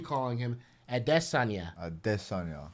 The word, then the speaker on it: Adesanya: him at that Sonya a diss on y'all that's that's how we're supposed to pronounce his name but yeah so he